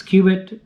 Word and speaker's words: Qubit: the saibi Cubit and I wasn't sure if it was quit Cubit how you pronounced it but uh I think popular opinion is it's Cubit makes more sense to me so that's what